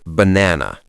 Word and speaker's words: banana: The stress is in the middle.